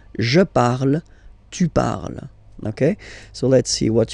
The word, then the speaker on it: parles: Then for tu, you will have to put es, okay? Phonetically, tu parles. So you've got the two first forms, you pronounce them the same way. You write them differently, of course, because you've got here, and then you've got and s, okay? But then phonetically, they are the same.